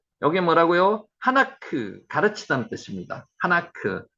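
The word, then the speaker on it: חֲנוֹךְ: 하나크, 하녹, 에녹, 하나크라고 발음합니다.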